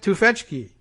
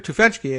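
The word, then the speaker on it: Tufekci: checked in on the actual pronunciation of her name but i think we kind of have it there uh that's pretty close and i think that's uh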